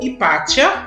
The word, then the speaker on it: Hipátia: A filha de Theon foi Hipácia ou Hipátia, as duas pronúncias são aceitas, de Alexandria.